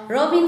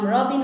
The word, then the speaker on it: रबिन: रबिन लेख्नु भएको छ मेरो नाम रबिन हो रबिना होइन है।